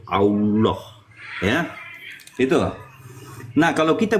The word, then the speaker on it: Allah: sehari-hari sehingga menjadi alilah diucapkan sebagai Allah kemudian ditafkim atau ditebalkan di sini menjadi Allah Ya itu Nah kalau